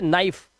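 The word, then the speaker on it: knife: इसी तरह से नाइफ। नाइफ में के साइलेंट है क्योंकि एन से पहले आया है तो के का उच्चारण नहीं है और सिर्फ नाइफ।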